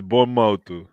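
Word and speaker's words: Bournemouth: ownership B Everton um I'm trying to copy what I he on TV man bom Mo let me sound it let me sound I didn't know I wasn't I was pronouncing bom mou man um bom but this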